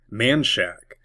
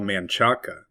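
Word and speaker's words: Manchaca: Manshack. It looks like it should be called Manaka, but everyone in Austin calls it Manshack.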